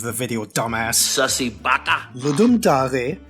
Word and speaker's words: Ludum Dare: Ludum Dare, yes, that's how it's pronounced, is a bi-yearly jam that was originally created by a watermelon.